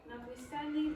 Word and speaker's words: notwithstanding: Not withstanding the sever outdoors. Yes. So and again the pronunciation of this word is like one word notwithstanding.